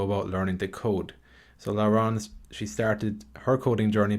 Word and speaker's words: Laurence: Laurence, that's how you pronounce it, isn't it? Yes, that's it. Yep. Okay, thanks for joining us, Laurence.